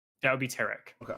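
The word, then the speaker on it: Tarak: I pronounce it as TK.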